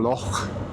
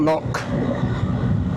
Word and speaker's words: loch: And I also hope I pronounced loch right, not lock, as you say us English do. Loch.